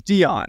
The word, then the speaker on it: Deone: be ja apostrophe Lynn so it's Dion you think it's Dion yes I I think it's Dion B Dion banan Dion Walker Dion Walker I believe that's how he pronounced I we're gonna go